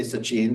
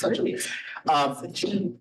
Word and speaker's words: Sachin: I'd actually say Sachin because that's how you say it in Gujarati, but in English, it's Sachin.